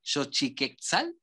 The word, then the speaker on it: Xochiquetzal: es un lugar, a ver si no lo pronuncio mal, Xochiquetzal.